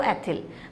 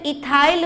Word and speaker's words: ethyl: ETHYL कर दो तो एथिल। अब मैं इथाइल बोलूँ एथिल बोलूँ, कंफ्यूज नहीं होना। हिंदी में पढ़ते हैं तो एथिल, और इंग्लिश टर्म प्रोनाउंसिएट करते हैं तो इथाइल, तो इसमें परेशानी नहीं है।